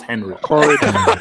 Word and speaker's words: Henry: You will pronounce his name properly, or I will throw you out of this hangout. His name is Henry, not Henry. Start again. Oh okay, Henry. Okay, Henry, not Hon. Henry.